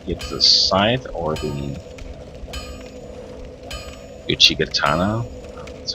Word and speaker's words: Uchigatana: This I think that maybe I'll use the, let's see, either the scythe or the Uchigatana.